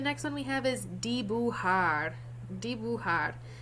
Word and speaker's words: dibujar: That J is pronounced like an H.